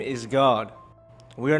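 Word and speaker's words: Gad: you go on Google and you type in God definition you'll see this little name pop up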